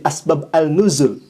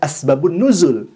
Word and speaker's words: asbabun nuzul: Masa ada ulama yang mengatakan asbabun nuzul menjadi asbab al-nuzul? Asbab al-nuzul itu tulisannya. Sedangkan bacaannya harusnya dibaca asbabun nuzul.